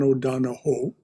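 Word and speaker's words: O'Donohue: is from john o'donoghue actually he's irish so properly pronounced it's john o'donoho john o'donoghue is a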